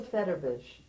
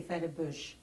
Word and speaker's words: Federbush: The pronunciation of the name is not correct. You say Federbush. It's not, it's Federbush. Okay.